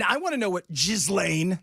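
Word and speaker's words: Ghislaine: And And I want to know what Jiz Lane, that's your name. Don't spell it that way.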